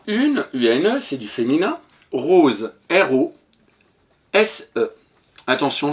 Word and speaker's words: rose: Rose, R-O-S-E. Attention, je te rappelle, le S entre deux voyelles se prononce Z. Ici, on peut mettre un S pour faire rose.